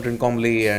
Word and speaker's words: Trincomalee: not that far from Trincomalee and.